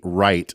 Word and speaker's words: Wright: That's a woman named Betty Wright, spelled with a W. Yeah.